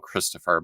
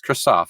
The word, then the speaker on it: Christoph: about Chris Kristoff harwigs I might have called him Christopher but it's Kristoff I think har Hellwig I said